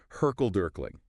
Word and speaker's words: hurkle-durkling: The report mentions something called, and I'm not even sure if I'm pronouncing this right, Hurkle-Durkling.